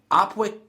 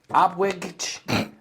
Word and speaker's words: Opwijk: And this is in um Opwijk Opwijk, Belgium. It's spelled o p w i j k. Now, you pronounce it. Opwijk.